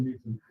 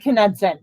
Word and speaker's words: Knudsen: You said Newton. No, I said Knudsen.